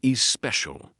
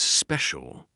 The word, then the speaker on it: special: Some people say is special. The correct sound is special.